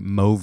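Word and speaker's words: MōVI: this slide uh bitly freefly Moi is the way that you pronounce that so Moi is a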